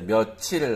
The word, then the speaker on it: 며칠: Actual pronunciation is 며칠 like that.